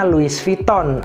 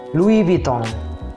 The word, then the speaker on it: Louis Vuitton: yang salah sebut ya masih banyak dari kita termasuk saya itu sebutnya Luis Vuitton atau Louis Vuitton nah pengucapannya yang tepat yang original yang benar sebenarnya adalah Louis vuittong Louis vuittong Louis vuittong Louis